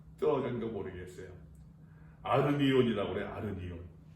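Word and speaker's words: ἀρνίον: 아르니온. 다 붙여서 아르니온이라고 읽어야 되는데, 다 붙어 있어야 되는데 이렇게 떨어지고 막 붙어 있고 해가지고서 아르니온.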